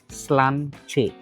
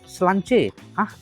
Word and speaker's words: Sláinte: It's spelled Slainte. Sláinte நினைச்சு Sláinte சொல்லிடாதீங்க. Is Sláinte. Yeah, that is how they pronounce it.